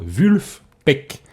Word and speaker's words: Vulfpeck: Vulfpeck. Ok. Vulfpeck. Je sais pas comment ça se Peut-être prononce peux-tu en les anglais. player? Il y a un F, c'est pas un V.